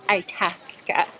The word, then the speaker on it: Itasca: Just asked a park employee, and the proper pronunciation is Itasca.